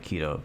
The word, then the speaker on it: Quito: flying into keto airport it feels weird calling it keto but that's how you say it inches hopefully he pops